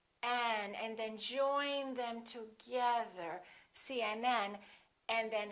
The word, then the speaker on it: CNN: example CNN UCLA PhD the rule is we stress the last letter of an abbreviation for example CNN UCLA